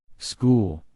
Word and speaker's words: school: a n did you Circle H number nine school school s c h o o l did